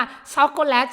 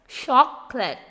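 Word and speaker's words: chocolate: ช็อกโกแลต จน ติด ปาก แต่ ที่ จริง แล้ว คำ ว่า ช็อกโกแลต เนี่ย เรา จะ อ่าน ออก เสียง แค่ 2 พยางค์ นะ คะ คือ คำ ว่า ช็อป เลต ช็อกโกเลต อาเรา จะ เน้น เสียง สูง ตรง คำ ว่า ว่า ช็อก นะ คะ อ่ะ พี่ พิษ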